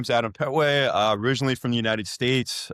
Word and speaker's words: Petway: I'm sitting here with Adam Pway.